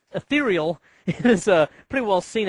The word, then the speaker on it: Ethereal: but uh it's ethereal I always want to call it eal but it's ethereal any case just do